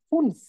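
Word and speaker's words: fünf: আচ্ছা, অন্য ভাই 5-এর উচ্চারণ ফুনফ, ফুনফ।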